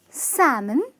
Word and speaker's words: salmon: almonds its a-mands similarly no salmon its sam-mn with the "L" being silent.